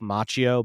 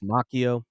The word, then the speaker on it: Macchio: of 1980, written by Mark Grundwald and Ralph Macchio. I realized we've been mispronouncing that every time I say that he's on a one. I've been saying Ralph Macchio, but it's Ralph Macchio.